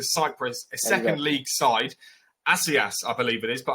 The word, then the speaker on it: Ethnikos Assias: Assias, I believe it is, but I'm sure you can do a better pronunciation than me. Yeah. It was Ethnikos Assias.